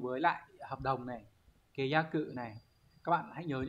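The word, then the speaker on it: 解約: Đấy, từ này đọc là kayaku.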